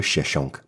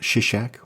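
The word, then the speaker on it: Shoshenq: by the Egyptians under pharaoh cheshonk the Pharaoh is also called shishak or shishok or shoshink pick your pronunciation The Invasion is conventionally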